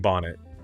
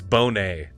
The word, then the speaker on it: Bonet: thank you Darnell leak this is how you pronounce it and I was saying Bonnet it's Bonet which of course it is because it it